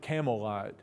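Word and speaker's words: Campbellite: is no Campbell or it's written Campbell lot he would have pronounced that Camelot like the cigarette well the Campbells were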